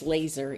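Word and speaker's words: LESR: so she teaches that we pronounce this laser even though it's l-e-s-r locate stop and uh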